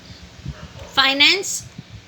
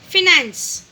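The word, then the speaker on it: finance: फाइनेंस, फिनेंस, spelling same होते हैं, सिर्फ प्रोनाउंसिएशन का फ़र्क होता है।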